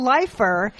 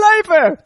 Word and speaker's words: Leifer: to Bud Freeman like he just mispronounced my name can you have him redo it it was like and now it airs you know it's on the DVDs please welcome Carol leer you ever heard Michael